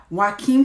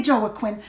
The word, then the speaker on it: Joaquin: Joker came out star Joaquin Phoenix I said it right I usually say Jolla Quinn Joaquin but I've been practicing